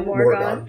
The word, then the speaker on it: Morrigan: how do you pronounce her name? The Morrigan.